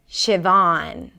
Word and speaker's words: Siobhan: You start with 'shi', 'shi', like "ship", 'shi'.